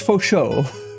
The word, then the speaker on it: Fo Shou: There's Fo Shou.